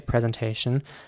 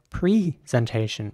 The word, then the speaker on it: presentation: the same way, and they would also say presentation, but some people in America also say presentation, presentation, with an E sound at the beginning, presentation.